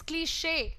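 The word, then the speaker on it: cliché: सो ये क्लीश नहीं होता है, दिस इज क्लीशे। इसका प्रोनाउंसिएशन हो जाएगा शे, क्लीशे, और च नहीं। यहाँ पर आप हार्ड साउंड नहीं प्रोनाउंस करेंगे CH का, आप सॉफ्ट साउंड प्रोनाउंस करेंगे। You will call it क्लीशे।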